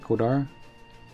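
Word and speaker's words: Coldarra: That's how you pronounce it, Kodara.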